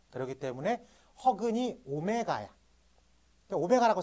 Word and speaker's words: 오메가: 쳐요 99번의 별표 치고요이 오메가라고 읽어요이 W 비슷하게 써 있는 거 어떻게 읽는다고 오메가라고 읽는다고 네 그래서이 오메가는 여러분들이